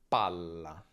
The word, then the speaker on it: palla: Per fare la doppia, trattandosi di un suono continuo, si allunga semplicemente, ok? Quindi pala, palla. Come vedi, la vocale prima si accorcia.